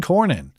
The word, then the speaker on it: Cornyn: So, as discussed on Wednesday, Trump endorsed Ken Paxton defeated incumbent Texas Republican Senator John Cornyn on Tuesday.